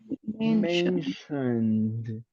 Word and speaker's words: mentioned: the last word mention we have a final D in pronunciation mentioned mentioned mentioned mentioned exactly